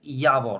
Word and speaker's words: Javor: Just by the way, Javor, because it is how it is written, it is Javor, okay? But in our languages, you need to pronounce it Javor, okay?